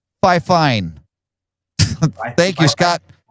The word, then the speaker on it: FIFINE: And according to Scott, it's pronounced fifine.